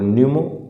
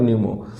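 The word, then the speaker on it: pneumo: human M for Meta P फॉर न्यूमो एंड P silent raw न्यूमो एंड वी for virus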